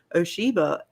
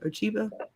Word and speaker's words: Ochiba: And she even tells Toranaga in episodes past when asking about Oshiba, or I know I'm saying her name wrong, Ochiba, the mother of the heir. Ochiba.